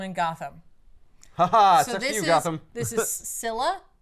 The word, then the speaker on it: Scylla: This is Sila. I'm using a Greek pronunciation of a mythic creature for that.